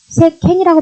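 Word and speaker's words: 世間: 이것도 간을 칸이라고 발음 안 하죠. 이때는 새캔이라고 발음하죠.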